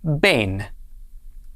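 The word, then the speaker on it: בֵּן: dogesh so it is pronounced altogether this is pronounced bane bane means sun this is not the sun that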